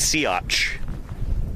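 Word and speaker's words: Siats: work uh and yeah the dinosaur's name is pronounced seaatch I think that's why the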